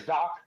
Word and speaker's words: Dak: His name is Doc. Dakota. Yeah, no, Doc. Dak? Doc. Sure. Doc. Please explain. I can't pronounce his name. Dak Prescott? Is that who you're talking about? Doc. It's Doc Prescott.